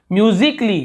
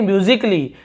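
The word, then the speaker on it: musically: फिर देखिए यहाँ पे म्यूजिकली, यहाँ पर भी आप देखें म्यूजिकली, यहाँ पर भी आपको ए आ ऐसे उच्चारण नहीं मिल रहे।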